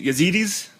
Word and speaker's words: Yazidis: my you got the the ya uh yazidis yazidis I'm pronouncing it right yes where I did some